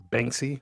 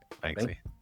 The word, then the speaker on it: Banksy: It said it said it was attributed to Bangsy. I guess that that artist. Oh, saying it wrong. I think Bangsy. Is it Banksy? Banksy Basky. Banksy.